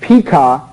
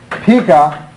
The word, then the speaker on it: Pekah: Pekah, I think that's the way it's pronounced, is king of Israel ruling from Samaria.